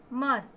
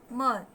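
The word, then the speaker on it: murmur: मर, बीच में जो आर है उसका प्रोनाउंसिएशन नहीं करना है। मर।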